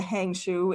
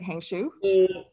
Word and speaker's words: Hangzhou: far that's called forgive me i'm going to mispronounce this the hangzhou airport did i say that right hangshu yeah it's a hangzhou airport so it's the second tier city in